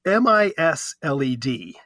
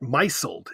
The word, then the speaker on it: misled: very embarrassing it's m-i-s-led it's pronounced misled a lot of people and there was an article in the American Journal of higher education where a lot of Scholars pronounced it myself as if it was a verb it is not a verb it's just the past